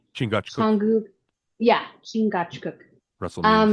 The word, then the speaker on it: Chingachgook: Chingachgook, Changu.